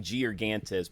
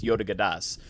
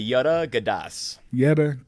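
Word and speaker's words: Georgantas: pronounced in greek it's yoda gadas yogurt um say it again so it's a yoda gadas because yeah because the g's like a gyro it's like it's got the yeah so it's yoda gadas it's how it's technically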